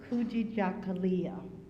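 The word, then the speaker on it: Kujichagulia: is the first red red candle and is pronounced kui Jalia swali for Swahili for self-determination where we Define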